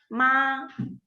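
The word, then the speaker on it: 妈: So this is the first tone, and we usually pronounce it as a ma.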